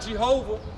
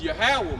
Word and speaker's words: Yahweh: So the right pronunciation for Jehovah is Yahweh, man.